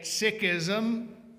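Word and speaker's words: Sikhism: Uh I will be calling it sikism because that is the apparently correct pronunciation.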